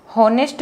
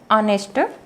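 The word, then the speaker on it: honest: अब यहाँ पर इसको हम हॉनेस्ट नहीं पढ़ेंगे, इसको हम पढ़ते हैं ऑनेस्ट मैन।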